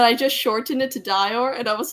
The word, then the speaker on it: Dior: cool that's cool Lily you thought it was pronounced door wait that's okay it it it's di or that's how that's how it's said so like a diarama but you shorten it to Dior yeah it's not Dior